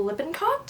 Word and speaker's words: Lippincott: Number 29, we've got Fivet Apart by Rachel Lippincott. That's how you say her name.